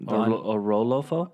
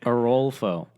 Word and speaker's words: Orolfo: do you say it a roll fo a roll folk so like you like oh oh and then you roll roll and then foe oh roll pho they